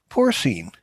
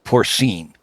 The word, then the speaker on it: porcine: I think the pronunciation would be with the N would be S-E-E-N. In pronunciation, that's not how it's spelled, but that's how, porcine, I think is the Latin way.